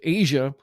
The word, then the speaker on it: Aja: this was kind of like the you know Asia so it's it's spelled a j a so if you never